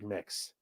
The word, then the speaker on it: Mx: sentence and then onorific mix pronounced like mix okay okay yeah total